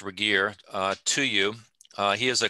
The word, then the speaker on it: Regier: i want to introduce michael regier it is pronounced regier to you he is a clinical psychologist who